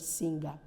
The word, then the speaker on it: singer: that r any word when a word ends with ER it ends with a sure sound look at this word singer we have R in the word singer but you see that R is not made visible here because e r ends with a vowel sound which is the sure sound maybe and time permits